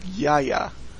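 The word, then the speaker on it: Iaia: I-A-I-A. I'm pretty sure it would be pronounced Yaya.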